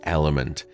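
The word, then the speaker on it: LMNT: of today's podcast is element uh and that's spelled l m n t now element is a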